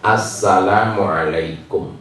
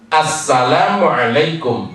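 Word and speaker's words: السلام عليكم: Assalamualaikum itu doa. Kalau diucapkan dengan benar itu doa. Kalau diucapkan sembarangan itu melaknat. Assalamualaikum tanpa lam. Assalamualaikum celaka kamu. Gitu. Sam itu artinya celaka. Begitu orang Yahudi ketika bertemu dengan Rasulullah.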